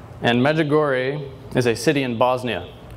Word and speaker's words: Medjugorje: It's pronounced Medjugorje. And Medjugorje is a city in Bosnia.